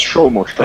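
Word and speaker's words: Soumya Sarkar: So we got Shumal Shaka, who's there, and also Tanzid Hassan Shakir. Do you say Shumal Shaka? Suma Shaka? It's pronounced Shumal. Got it. It's Shomo Shaka.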